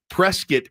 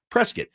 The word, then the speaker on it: Prescott: Like Prescuit, Arizona, spelled Prescott, but they pronounce it Prescuit.